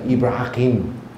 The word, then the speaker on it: Ibrahim: 拉伯人可能是念成 Ibrahim 啊，所以这个中文